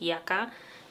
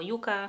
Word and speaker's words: Yucca: I tak, ja będę mówić na nią Yuka, ponieważ wiem, że wiele osób w internecie zaczęło mówić Yaka i mówić o różnicach między tymi dwoma słowami. Natomiast w samych spotach marketingowych Natasza mówi to jako Yuka, plus wydaje mi